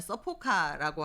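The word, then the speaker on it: サポカ: 그런 점에서 일본에서 22년부터 도입하고 있는 안전운전 서포트카, 일본어 발음대로 하면 서포카라고 하는 읽는데요.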